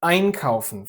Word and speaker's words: einkaufen: Aufpassen, einkaufen, vorstellen. Exactly, the stress is always on the prefix.